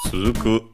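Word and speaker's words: 続く: Okay, unaccented. Suzuku.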